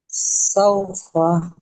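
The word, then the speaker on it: سَوْفَ: ওয়াও সাকিনের ডান দিকে যাবার এসেছে, একে ওয়াও লিন বলে। অউলিন আর নরম সেখানে আওয়াজে তাড়াতাড়ি পড়তে হয়, টান দেওয়া নিষেধ।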